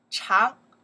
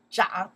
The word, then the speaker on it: 长: The first time we learned that from the long, we pronounce the chang, chang, long is the character. And today, in just right now, a couple minutes ago, we pronounce this one, the another sound, right? The meaning is to grow. When it to grow, we say, well, zhang, okay, zhang.